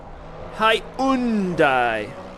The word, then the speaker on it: Hyundai: How do you pronounce Hyundai? Hyundai.